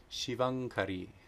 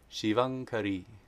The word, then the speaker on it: Śivaṅkarī: if anuswara is being combined with the guttural sound, it is always pronounced nga, the N with the dot over it.